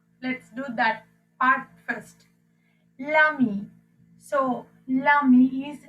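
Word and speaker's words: l'ami: So here lami and lami, there's no difference in the pronunciation here, and this becomes lezami, and this is again lezami.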